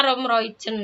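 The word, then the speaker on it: Roem-Roijen: Tulisannya Romroyen. Nah, bacanya Romroyen.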